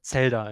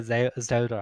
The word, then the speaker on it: Zelda: get wrong is like Z and S are pronounced like the opposite in German. Oh, right. Like the Z is very sharp, so we say Zelda in German. And in English you would say Zelda, I guess.